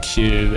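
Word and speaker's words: queue: The word Q, it's pronounce the first letter and then ignore the next four consecutive vowels.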